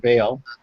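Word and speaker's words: Baal: other Idols being smashed the god b or Bale depending on how you pronounce it and uh altars that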